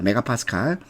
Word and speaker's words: 메가파스칼: 설마 이걸 MPA라고 읽지 않겠죠? 메가파스칼입니다. 메가파스칼. 뭐 MPA라고 읽어도 되겠습니다. 자, 그러면 이 배관이 손상되어 가스가 누출될 경우 가스 압력은 0.1에서 1 사이.